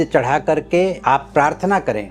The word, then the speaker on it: क्रीं: काली के सामने ओम क्रीं क्रीं शत्रु नाशनी क्रीं क्रीं फट। ओम क्रीं, क्रीं मतलब KRING, जी साइलेंट होता है, ग कहना नहीं है, क्रीं कहना है।